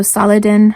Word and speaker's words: Saladin: a hero of islam so saladin i think is how you would pronounce it is how we pronounce it as muslims in arabic anyway this book was way